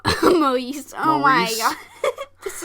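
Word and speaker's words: Maryse: Marcy? Maurice.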